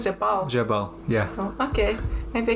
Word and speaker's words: Jabal: Is it correct pronunciation? Jabal.